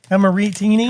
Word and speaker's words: Amarettini: I know they do the second syllable is how you really belt it out. Amarettini.